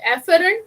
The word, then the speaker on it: afferent: Afferent means bringing the supply towards the organ, efferent leaving it. Now both could be pronounced as efferent only, but I always remember and pronounce it as afferent and efferent, so that idea comes